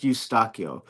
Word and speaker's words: Eustaquio: Last name is spelled is actually pronounced Eustaquio.